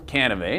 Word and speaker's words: Cannivet: He's Michael Cannivet. Now you know it rhymes with Chevrolet.